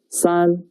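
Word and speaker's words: 三: The pronunciation is son.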